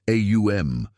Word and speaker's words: Om: One of the most universally recognized sacred sounds is the Sanskrit syllable Om, pronounced AUM, a vibration that quantum physicists have discovered contains the same mathematical patterns found in everything from galaxies to seashells.